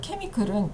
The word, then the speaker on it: chemical: CH가 K 발음이 나는 경우가 그렇게 많진 않은데, 자, chemical은 좀 예외적으로 K 발음이 납니다.